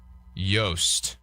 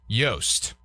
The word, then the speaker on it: Joost: Kind of how Louis Oosthuizen is. I would go Joost. Like kind of like that. Pronounce. Let's see. Joost. Yost. Yost.